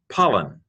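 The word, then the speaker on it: πάλιν: you who are still learning the letters and pronunciation. As usual, pause the video as necessary. P alpha lambda iota nu, pollen, again.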